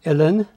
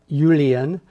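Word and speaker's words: uilleann: name of your Irish pipes yeah it's it's pronounced illin it's spelled UI l l e a NN so a lot of people think it's Ulen and I've even heard it pronounced alien which is hilarious some people would consider it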